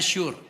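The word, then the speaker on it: שור: lain-lain sekarang tinjauan bahasa tembok dalam bahasa ibraninya tertulis s h u wrr cara bacanya Sur diterjemahkan us going about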